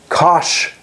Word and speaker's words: cosh: The first one, written COSHX, is the cosh function. So we say cosh of x, and its definition is e to the x plus e to the minus x over 2.